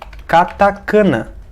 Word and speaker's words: katakana: é dizer essa palavra é atacar na dizer katakana como se fosse escrito assim né katakana e não é kaká na ainda irá na